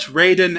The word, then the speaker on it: Raiden: Sub-Zero they have met Raiden and the other champions hey you pronounced it Raiden instead of writing this time no I didn't I